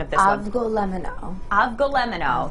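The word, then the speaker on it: Avgolemono: I'm going to let you give the correct pronunciation of this Avgolemeno. One. Avgolemeno. Avgolemeno.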